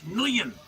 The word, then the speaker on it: Nguyen: The G is silent. It's Nguyen.